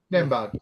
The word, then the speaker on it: Nembhard: Yeah, and then if you get that, is it Andrew Nembhard, or how do you pronounce that name? Nembhard, yeah, Nembhard.